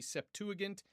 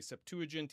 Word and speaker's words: Septuagint: to look at the Septuagant. Some people will say Septuagent. Either one is fine.